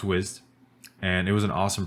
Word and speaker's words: Wized: it wrong the whole time it was called wise i go saying wise so it's pronounced wizzed and it was an awesome product and i